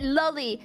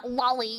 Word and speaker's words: loli: No, and by the way, I pronounce it loli, like Lolita, which is the fucking book that the term originates from, alright? And anybody who says fucking lolly, you know, like Dizzy